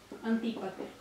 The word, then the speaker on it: Antípater: Antípater, con acento en la I. Ah, sí, no, es que hay un montón de nombres que son similares. Okay. Antípater.